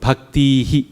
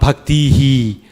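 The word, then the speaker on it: भक्तिः: If it's long, then you should still echo it short. Okay. So if it's bhaktihi, then you should echo it bhaktihi, short E, not bhaktihi.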